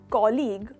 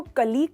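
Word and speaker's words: colleague: तो दोस्तों ये शब्द जो है कॉलीग, उसको कलीग कहा जाता है। जनरली आपने कलीग सुना होगा, बिल्कुल गलत प्रोनाउंसिएशन, उसको कॉलीग कहते हैं।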